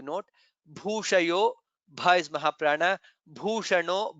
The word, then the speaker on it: भूषणो: Bhushano. Bha is again Mahaprana.